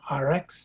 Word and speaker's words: ARIIX: Okay, the company is called RX, and it's called it's spelled ARIIX, and they are also the manufacturers of the Purity water system.